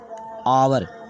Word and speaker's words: hour: आवर, इसे पढ़ेंगे आवर। ठीक है, तो यहाँ H साइलेंट है।